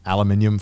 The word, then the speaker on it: aluminium: or some kind of room that's made of aluminium foil exactly I said aluminium e e no